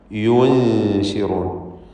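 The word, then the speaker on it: يُنشِرُونَ: യുൻശിറൂൻ. ഈ പദം ഉച്ചരിക്കുമ്പോൾ തെറ്റായിട്ട് ആളുകൾ എന്ത് ചെയ്യും? ആ ദമ്മ് ഉച്ചരിച്ചപ്പോൾ ചുണ്ട് എങ്ങനെയാണോ അങ്ങനെ തന്നെ നൂനും ഷീനും ഒക്കെ, ഷീനു വരെയും യൂ എന്നിങ്ങനെ ചുണ്ട് അങ്ങനെ തന്നെ വെച്ചുകൊണ്ട് പറയും. അത് തെറ്റാണ്.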